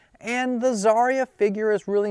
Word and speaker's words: Xarria: Um, I think it is pronounced Zarya. I'm going to pronounce the X as a Z sound. Zarya. And the Zarya figure is really not that difficult to get.